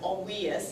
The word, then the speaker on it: Olweus: It's spelled O-L-W-E-U-S, but he is, well, in Norway and originally from Sweden, and so it's pronounced, instead of Olweus, it's Olweus, the way they pronounce their W's.